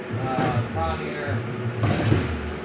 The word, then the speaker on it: Kawneer: I believe it's pronounced Kawneer. I've heard this one dude refer to it as Kawneer. What a doof. Like, I mean, Kawneer, but I'm pretty sure it's K-A-W and there's no Kwan, like as in like Kwanzars.